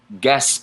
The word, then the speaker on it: Gaspard: pick P I see Gaspard Gaspard ends with a D but it's not pronounced in French gasp ah punching those words